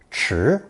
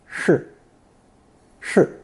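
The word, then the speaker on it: 匙: When pronounced chi, it represents a spoon, but when given the unstressed pronunciation shi, shi, it means a key, a spoon-like object.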